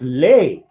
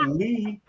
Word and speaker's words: Lee: i said this me no no no you are lee that's lay oh the pronunciation of l-e-e was lay and they're like going you're not lee that's that's lay not lee and i'm like dude i'm that's my name lee my name my name